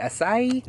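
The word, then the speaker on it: açaí: How do you say it? Acai? Acai? Acai? No, it's acai.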